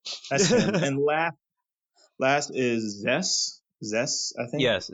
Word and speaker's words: Zess: Yes, Zest. Zess. Yeah, That one out was of four, great. baby. It was only four letters and it's spelled like Zeus, but so it's just Zess.